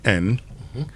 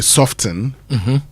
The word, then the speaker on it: soften: So how do I find a word that is spelled, say, SOFTEN, not say soften, but say soften? How do I?" So the word is FASTEN. So the T, what do we do with it? We throw it away.